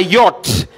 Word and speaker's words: yacht: we say this it's subtle the b is silent next it's a yacht the ch h are silent right in this How do we pronounce it?